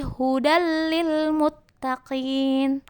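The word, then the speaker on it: هُدًى لِلْمُتَّقِينَ: contoh tanwin hudalil Muttaqin jadi bacanya bukan hujan tapi hudallilmuttaqin ya hahaha Insya Allah paham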